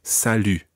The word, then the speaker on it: salut: salut as sadly sadly listen carefully to the difference between born rule and sally jewell UD it's a completely different vowel sound Borel sadi repeat salut salut Sally this comes